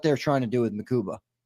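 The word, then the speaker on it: Mukuba: I spelled his name wrong in the thumbnail. I thought it was uh ma. It's mu makuba.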